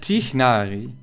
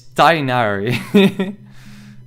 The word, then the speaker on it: Tighnari: I said Tighnari. And I feel I got called out like multiple times like... It's not Tighnari. It's Tainari.